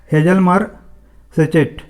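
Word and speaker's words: Hjalmar Schacht: ये है हेजलमर सेचेट, है ना, जर्मन प्रोनाउंसिएशन है, हेजलमर सेचेट को इन्होंने असाइन किया था।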